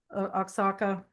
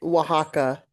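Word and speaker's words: Oaxaca: Linda, am I pronouncing that town correctly? Oxaka when we go to Mexico. I believe that you are not, but I can't pronounce it correctly myself. It's Waka.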